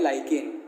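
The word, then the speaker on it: lichen: लाइकेन या लिकेन। उसका pronunciation आपके ऊपर डिपेंड करता है कैसे यूज़ करना है, हर कंट्री में प्रोनाउंसिएशन डिफरेंट है।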